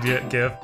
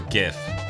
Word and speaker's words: GIF: It's more of a G or Well, it'd be graphics, so GIF. Not giraffics. Right. I stick with the Maddox explanation of he invented a fucking image format, not the letter G. Right. Stan Richardson says it's pronounced YIF.